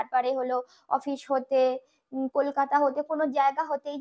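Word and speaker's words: कलकत्ता: কলিকাতাটা আমরা যখন হিন্দিতে উচ্চারণ করব, এই কলকাতা এই লাস্টে যে তয়াকার ওখানে আমরা তয় তয় করি, আর সেই জন্য জোরে উচ্চারণ করব কলকাতা, এই যে কাত্তা বলছি তাই কলকাতা সে।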